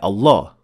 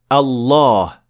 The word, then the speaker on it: الله: Well, the word Allah does have a dagger alif, simply because we pronounce it. We say Allah. We don't say Allah.